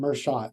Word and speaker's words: Merschat: Did I Did I pronounce Mershot right? Did I pronounce that right? You got it right the second time. Mhot.